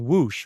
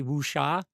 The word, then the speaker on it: Whoosh: and it's just called Whoosh, right? I want to always I I always want to say wooa. I don't know why, but it's just it's just whoosh.